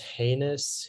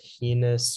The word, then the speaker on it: heinous: Yeah, so it can be pronounced heinous, heinous, or highness.